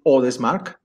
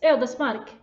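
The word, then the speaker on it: Ödesmark: It's the correct pronunciation, other smack. Yes, Eldesmark.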